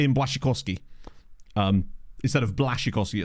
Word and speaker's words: Błaszczykowski: Like in Błaszczykowski. Instead of Błaszczykowski, it's like Błaszczykowski. Polish speakers will be able to explain it better, but that's essentially... It's like a kind of W type sound.